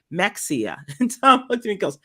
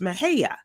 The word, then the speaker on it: Mexia: system going through a town in Texas called Mexia Nexia what's next and it's it's pronounced Mahaya um also uh Yolanda shared with me uh